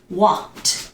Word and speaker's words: walked: walking no it is not walking no the pronunciation is what walked so I'm going to write down the pronunciation